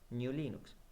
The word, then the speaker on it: GNU/Linux: como para abreviar, pero el correcto nombre para pronunciarlo tendría que haber sido y tiene que ser New Linux.